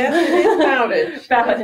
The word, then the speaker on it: Bowditch: Did I pronounce that correctly? Yes, it is Bowditch. Bowditch.